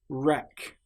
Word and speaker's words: wreck: Right, wreck. This shows that the letter W is completely silent.